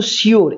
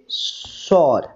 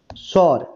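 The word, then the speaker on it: sure: না সিওর ঠিক আছে এটা বলে কিন্তু সিওর এটার সঠিক উচ্চারণ নয় এর সঠিক উচ্চারণ হচ্ছে সর সর ঠিক আছে তাহলে হি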